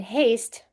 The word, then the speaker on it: haste: Now, why is the A long in haste? Well, there was an E there.